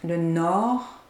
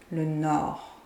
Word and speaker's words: nord: Le sud, the south, and we pronounce the D, le sud, but the second one, the north, le nord, we don't pronounce the D, le nord. Le sud, le nord.